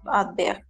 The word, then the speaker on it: adverse: Nous avons donné un bon lecon à l'équipe adverse. C'est oui. D'accord, très bien, exactement. Les sons, attention, les sons, es la CCD, les sons adverses. Adverse. O sea, la E al final no vamos a pronunciar.